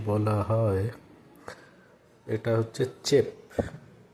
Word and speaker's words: Tchep: বলা হয় এটা হচ্ছে চেপ বানানটা লেখা হবে ইংরেজিতে লিখলে বা এদের ভাষায় লিখলে টি সি এইচ ই পি টি এখানে উজ্জ্ব থাকবে সাইলেন্ট তো চেপ এটা একচুয়ালি সেনেগাল